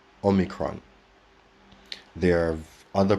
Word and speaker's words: omicron: simplest form it becomes omicron omicron so it's a short o short and sharp omicron there are other pronunciations like omicron omicron and others but personally i would work with omicron and in fact in